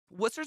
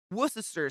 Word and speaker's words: Worcester: Worcester's one of those cities where the C and the S has the same sound. Worcester sauce.